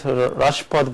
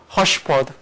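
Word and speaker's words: Raspaud: And then for second conjecture, I want to pronounce it as Rashford, but he wanna call it by Hushford. He's French, and his pronunciation says he said Hushford.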